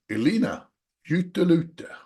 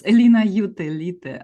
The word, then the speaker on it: Elina Jutelyte: My name is Klaus Hostel, and I'm here today with Elina Jutelute.